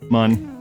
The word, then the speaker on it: Mun: I pronounce it mun. Mun.